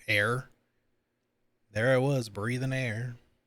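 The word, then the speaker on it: Ayre: Which sounds funny with her name because it's pronounced like air.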